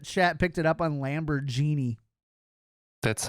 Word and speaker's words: Lamborghini: The I'm glad that chat picked it up on Lamborghini. That's how we pronounce it in Germany. Oh, I'm sorry. Yeah. Yeah. It's Lamb or Genie. Lamborghini.